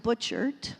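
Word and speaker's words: Butchart: Butcher, that's the way you pronounce it.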